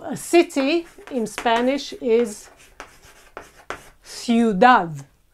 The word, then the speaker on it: ciudad: So a city in Spanish is ciudad. We have I and U together in the same syllable.